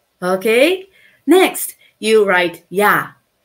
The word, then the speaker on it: 야: And when you pronounce 야, you make a circle and you make a short horizontal line.